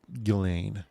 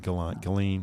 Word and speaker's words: Ghislaine: It's pronounced Ghislaine. Like Gline. Ghislaine.